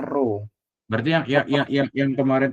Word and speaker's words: rho: kamu harus cari eh ini namanya rho bacanya row berarti yang yang yang kemarin tuh yang benar rho * g * h gitu itu.